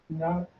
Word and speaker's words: naught: It led me to another spelling: N-A-U-G-H-T. Not. You can spell it both ways.